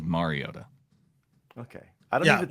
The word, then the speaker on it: Mariota: with my quarterback pronunciation, I can confirm it is Mariota.